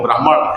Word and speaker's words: ब्राह्मण: और डॉक्टर सुधा साहिबा ब्राह्मण को हम लोग उर्दू में ब्राह्मण कह देते हैं सही प्र उसका जो उच्चारण जो है व ब्राह्मण है लेकिन उर्दू में हम लोग ब्राह्मण इस्तेमाल करते हैं मेरे ऊपर उसी का